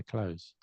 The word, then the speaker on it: clothes: But I think most people say like it closed. Like I put my clothes.